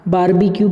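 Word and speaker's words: barbecue: बारबेक्यू भी बोलते हैं, आर को साइलेंट भी करते हैं।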